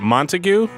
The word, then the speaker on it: Montague: Is it Montague? That's correct.